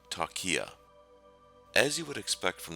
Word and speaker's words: Talkia: reach tokya at www the software is pronounced talkia as you would expect